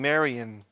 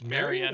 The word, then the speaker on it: Marianne: over the fact that nathan keeps on mispronouncing marion it's marianne i thought it was